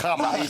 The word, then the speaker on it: Hamas: Hamas.